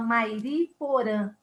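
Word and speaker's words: Mairiporã: M-A-I-R-I-P-O-R-A con una tilde. La nasalidad.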